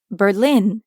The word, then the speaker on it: Berlin: in Berlin they'd say Berlin ends in i n which in French becomes ah another nasal sound Berlin your turn repeat